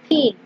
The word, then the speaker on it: PNG: another is that png this is pronounced as pin it stands for portable